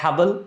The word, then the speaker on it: Haball: उमर, क्या मैंने सही प्रोनाउंस किया है? Haball?